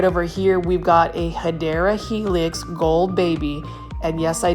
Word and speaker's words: Hedera helix: Yep, it's the correct way to say it, Hedera helix, or English ivy.